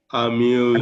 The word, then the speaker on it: amused: it sounds like a D because this is a buzzing.